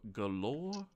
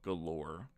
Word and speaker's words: Golorr: It's called the Stone of Galore, I believe. And that's spelled Golorr, Stone of Galore.